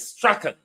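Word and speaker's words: Strachan: question for Ryan Straen he called himself Strong but the pronunciation in British Scottish is Straen Ryan Straen he called himself Ryan Strong will Ryan Strong be investigated as well?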